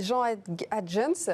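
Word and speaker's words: Jean Haëntjens: Et Jean Adjens, Oui. est-ce que je l'ai bien prononcé?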